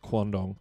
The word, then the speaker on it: quandong: And that's how it's pronounced, quandong.